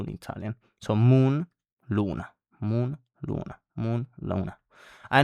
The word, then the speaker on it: luna: Then we have the letter U, and this vowel in Italian is U. Luna, for example, it means moon. And in fact, it's the same pronunciation as in moon in English.